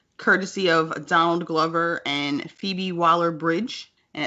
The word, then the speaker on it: Phoebe Waller-Bridge: How you say it? It's Phoebe. Phoebe Waller-Bridge. Phoebe Waller-Bridge.